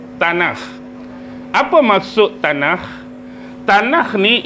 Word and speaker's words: Tanakh: Baik, secara umum kitab Taurat ni selalu diberikan dengan nama Tanakh. Pernah dengar perkataan tanak? Pernah dengar tak? Pernah. Ejaan dia T A N A K H T A N A K H tanah.